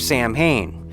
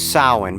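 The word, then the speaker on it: Samhain: and of course the the correct pronunciation as we all know is sowin but I'm going by the pronunciation that's presented in the film loomis's presentation of the word as Sam Hayne in in this idea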